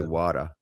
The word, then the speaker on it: water: But if I also say water there's no te e r and water. Water. Well that's a d in there. You pronounce it like w a d a water.